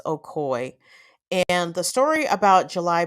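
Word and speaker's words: Ocoee: pronounce anything on today it's spelled o-c-o-e-e and it's pronounced okoy and the story about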